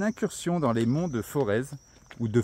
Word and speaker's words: Forez: de forz ou de forêt je sais pas comment ça comment ça se prononce vraiment si on prononce le Z ici comme en haut de sa voix on prononce pas le Z donc F o r